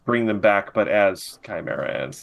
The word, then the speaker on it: Chimera: it was like oh this is they're just Chimera ants I said it right you did I did they're just Chimera ants oh God ads are almost kind of